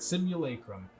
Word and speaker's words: simulacrum: the day simulacrum yeah i said it right simulacrum simulacrum an image or representation of someone or